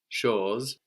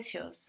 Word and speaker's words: chose: The word for thing was chose. How was something? Quelque. Quelque chose. Very good. Quelque chose.